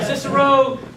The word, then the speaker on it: Cicero: the cousins that that also Dr down from cisero is that right cisero did I pronounce that right yeah boom there we go I got it right all right cisero uh Chicago so no Cicero Illinois outside of